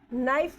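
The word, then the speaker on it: knife: होगा मून होगा तो इस तरीके से मून होगा तो नाइफ वर्ड है के साइलेंट हो गया एन आई एफ ई एफ ई नाइफ है सपोज नाइफ ऐसे आ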